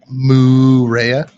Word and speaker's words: Moorea: So it's spelled in Tahiti Moorea. Lupa over here, for some reason, can't pronounce that. Marea. I refuse to pronounce it. What? Moorea.